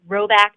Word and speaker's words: Rhoback: polos yeah you can you can go to row back calm it's spelled rh o ba ck and you'll get